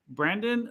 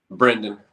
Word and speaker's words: Brendan: say your name because is it Brandon um Brendan Brendan okay nice yes sir so how old are you I'm uh 27.